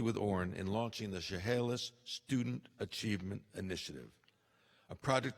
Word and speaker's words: Chehalis: in his early years in Chehalis excuse me in Chehalis my wife has spent a lot of time getting to me to pronounce that correctly Jay a former state